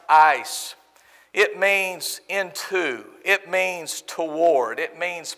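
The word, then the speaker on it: εἰς: passage the original language the greek word that was used as translated for here is pronounced ice ice you put it in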